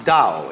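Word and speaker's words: 道: That's pronounced Dao. If it had an apostrophe after it, it would be pronounced Tao. But Dao is more or less the right pronunciation for that word.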